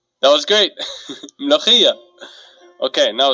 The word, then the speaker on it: Mulukhiya: Would you believe me if I said it'll actually taste better if you pronounced it right? Let's try it. Mulukhiya. Mulukhiya. That was great. Mulukhiya.